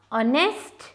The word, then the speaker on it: honest: say honor, it's honor, honest. Both these words begin with the phonic sounds O, a vowel sound. Hence, we say an honest man. It is an honor because H is silent in these words.